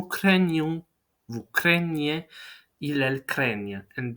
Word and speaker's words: craignent: vous craignez, il, elle craignent. And be mindful of the pronunciation because the group GN is going to be spelled out ni. Craignent, craignent, right?